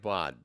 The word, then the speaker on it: baud: BAUD isn't an acronym. Oh, okay. Cool. See? Sounds like bod. Bod, board, got it. Cool. Anyway, pronounce it like bod.